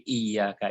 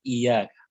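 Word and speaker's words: إِيَّاكَ: Nah, jadi iyyaka itu bacanya harus ada syaddah. Kenapa? Karena ada ya mati bertambah ya fathah. Lalu bacanya jangan iyyaka, tapi bacanya iyyaka.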